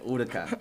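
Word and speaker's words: Huracán: is it huran urakan hurakan yeah second division pronunciations urakan yeah so I was in P until I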